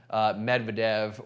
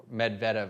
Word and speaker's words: Medvedev: look at a guy like medvedev or uh medvedev i guess is how you're technically supposed to pronounce it i've been criticized in the youtube comments so medvedev uh he loves to